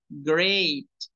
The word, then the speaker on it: great: a Jennifer Mariana Cuidado con la palabra Grey porque la mayoría de los alumnos cuando va empezando la pronuncia diferente como grite es el verbo es